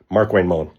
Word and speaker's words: Markwayne Mullin: Mark Wayne Mullen.